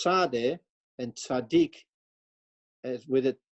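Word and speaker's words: צדי: course beginning with the Tzadeh. That little thing above there is to show where the klemtoon ligt, where you put your first accent. Tzadeh, niet tzadeh, but tzadeh.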